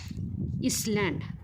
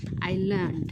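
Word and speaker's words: island: इसलँड तर विद्यार्थी मित्रांनो इसलँड हा या शब्दाचा उच्चार नाही तर त्या शब्दाचा उच्चार आहे आयलंड काय आहे बघा आय आयलंड म्हणजेच काय बेट किंवा द्वीप बेट किंवा द्वीप तर विद्यार्थी मित्रांनो जो काय आयलंड या शब्दामधील काय आहे रे यस हा सायलेंट आहे तर विद्यार्थी मित्रांनो चला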